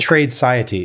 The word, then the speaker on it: Tradeciety: Tradeciety. Is it okay? So it's trading society all connected together.